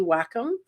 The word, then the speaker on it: Wacom: of the pros use you may have heard it pronounced wake it's actually Wacom and what I did